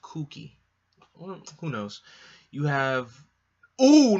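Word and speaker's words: Kuki: COO cookie or Betty not cookie it's just pronounced kooky who knows you have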